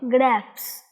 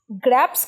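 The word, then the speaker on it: grapes: গ্রেপস। গ্র্যাপস কিন্তু নয় মোহনা, শিখে নাও তো, এটা গ্রেপস।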